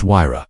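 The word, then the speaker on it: Huayra: Number three, the Pagani Wra, pronounced Huira.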